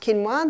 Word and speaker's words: quinoa: familiar with with it's spelled quoa but it's pronounced quinoa the Aztecs love their quinoa Aussies are starting to get familiar with it